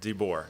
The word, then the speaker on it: DeBoer: DeBoer, is that how you say it? DeBoer. Yeah. D-E. Yeah.